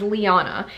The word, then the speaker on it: Lyanna: I've heard different variations of this name, but I fell in love with the way they pronounced it in Game of Thrones, and that is Liana.